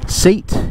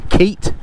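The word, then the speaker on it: CEAT: I've never heard of before a company called seat Keat which is spelled c e a t and I don't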